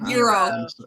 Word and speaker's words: gyro: Oh, I guess it's gyro or I guess gyro. Euro. Euro. Okay. Yeah, you don't really pronounce the G that way.